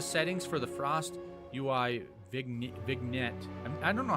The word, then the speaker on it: vignette: Improve the settings for the Frost UI vignette. I don't know how to pronounce that word correctly. Vignette. I think that's what it is. Vignette. I think the G is silent.